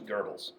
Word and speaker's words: Goebbels: That was Goebbels. Do you guys know who that was? He was the propaganda minister for Nazi Germany. Question. Why is it pronounced Ger when it's like G-O-E? German. It's German.